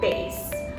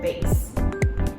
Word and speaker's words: bass: So we have the instrument bass, or we also have the bass clef. And so the pronunciation is more close to if you would pronounce B-A-S-E, bass.